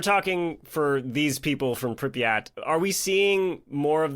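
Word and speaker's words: Pripyat: They evacuated people like the So, so the town I don't know how to say this, Pryat. Priyat.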